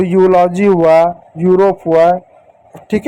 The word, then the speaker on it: Europe: कैसे पढ़ेंगे, जैसे यहाँ पे एक शब्द EUROPE, ई यू को क्या पढ़ेंगे यू पढ़ेंगे, आर को क्या पढ़ेंगे र पढ़ेंगे, ओ को क्या पढ़ेंगे ओ की मात्रा पढ़ेंगे, पी को प पढ़ेंगे, हो गया यूरोप, ई साइलेंट होगा, किसी शब्द के अंत